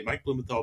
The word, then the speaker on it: Mike Blumenthal: I'm going to go to Google and I'm going to say Mike Blumenthal dog trainer only, you know, New York. Is that the correct pronunciation, Mike?